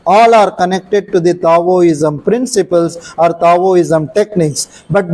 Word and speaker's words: Daoism: ISM if you write d a i m Daoism but the pronunciation is Taoism but now the people started writing t a